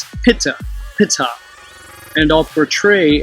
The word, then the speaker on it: Ptah: ancient hieroglyphic depictions of the deity called Ptah, or Ta, if you use the silent P, Pitta, which was phonetically pronounced Pitta, and I'll portray how